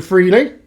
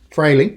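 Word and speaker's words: Frehley: We got the passing of Mr. Freely. Freley, I'm sorry, Freley. I said it wrong.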